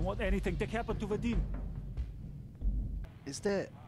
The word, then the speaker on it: Vadim: I am talking about Vadim.